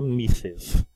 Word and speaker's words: Mrs: escreve Mr MS né a gente escreve MRS mas pronuncia misses e Miss a gente escreve